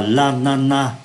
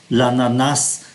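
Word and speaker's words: ananas: quả dữa Lana ở danh từ này có hai cách đọc hoặc là Lana chúng ta bỏ ký từ S đi và cách đọc thứ hai là chúng ta đọc ký từ S lanas Lana hoặc là lanas la Quả liton quả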